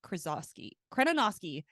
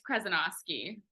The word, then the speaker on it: Krezonoski: have Michelle and Kim krosi kinosi oh my gosh I already butchered that can you tell me how to say your last name properly it's okay it's 10 letters it's kenosi thank you I promis